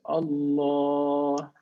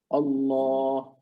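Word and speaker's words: الله: to make we say allah so we pronounce it with a full mouth look at my mouth allah oh however second situation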